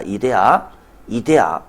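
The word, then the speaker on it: idea: 이데아. 아이디어라고 읽지 마시고 이데아입니다. 이데아 완벽한 세상입니다. 관념의 세상이라고 옆에라고 되어 있는데요. 요거 이데아를 말합니다. 이데아, 아이디어라고 읽으면 좀 곤란할 것 같습니다.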